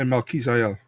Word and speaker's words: Melquizael: I say Melquizael.